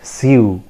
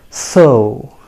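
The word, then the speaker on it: sew: okay it is so as you pronounce s o s o so in the same way this word is also pronounced as so right phonetic transcription will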